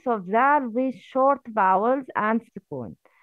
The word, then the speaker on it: ذال: This is the tip of the tongue. Zal, az.